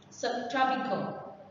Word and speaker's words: subtropical: The stress is on the second one. Subtropical.